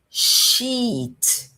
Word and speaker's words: sheet: Sheet, vogal longa, prolongada. Sheet. Sheet. E o segundo caso é som de e. O i tem som de e. Então fica e shit. Shit. Veja a diferença entre sheet e I'm sorry. Shit. completamente diferente.